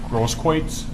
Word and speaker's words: Grosskreutz: Grosskreutz.